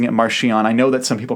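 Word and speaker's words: Marchion: Uh, and yes, I'm pronouncing it Marian. I know that some people pronounce it maron, but it's a ch. So, anyway, um, uh, u, I I'd accept Marchon, but I say Marian.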